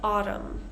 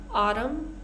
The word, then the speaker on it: autumn: our common pattern here for this silent n we're just going to pronounce the M sound so for example Autumn column con condemn right